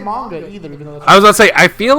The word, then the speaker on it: manga: i don't know manga i said manga which is wrong i know that but manga is obviously right because that's how japanese people pronounce things but i'm not